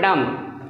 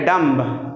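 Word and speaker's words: dumb: नहीं पढ़ना है साइलेंट जैसे यहां पर दम आप कहेंगे डंब तो गलत हो जाएगा कम यहां पे कम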